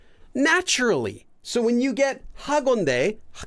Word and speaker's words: 하건대: Well, it might help you with pronouncing the H, but 하건대. Well, let's just say this is extra air here. 건대, 하건대, 건대.